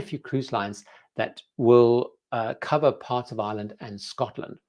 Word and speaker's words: Cobh: it calls in Dublin and Cove, I'm always pronouncing it correctly, COBH, which of course are not part of the UK.